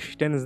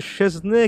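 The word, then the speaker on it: Szczęsny: বৈশ্বিক এস্টেন্সনের ক্ষেত্রে বলবো যাকে পুলিশ উচ্চারণে অনেকটা স্টেশন বা এর কাছাকাছি কোন একটা প্রোনাউন্স করা হয় এবং আমরা অনেক সময় আমাদের মিডিয়া গুলোতে সেজনে কিংবা সেজনি বলে থাকি তবে চেহারাটা দেখে নিশ্চয়ই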